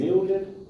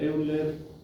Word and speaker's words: Euler: de Euler, donde en Euler dice, mire, usted lo puede hacer de 3 maneras. Hacia atrás, central o hacia adelante. Por sintetizar el concepto. Leonhard Euler, o Euler, en realidad se pronuncia Euler.